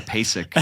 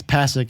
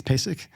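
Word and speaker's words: PASIC: yeah and it's like I'm going to pac and then some guys like no it's pacic oh yeah exactly yeah no it's I can tell you as as an employee it's it's pacic that's how you say there's no pacic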